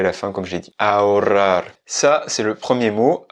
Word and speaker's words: ahorrar: Se dice ahorrar.